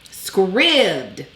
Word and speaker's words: Scribd: let me talk about scribd and i am pronouncing it right because somebody was like don't you think it's wrong they give us the pronunciation script like ribbed or filled see i know how